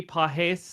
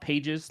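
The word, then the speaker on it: Pagés: We got Cronenworth tied with Andy Pajes, I think is how you pronounce it. I'm pretty confident it's not pages, like pages of a book.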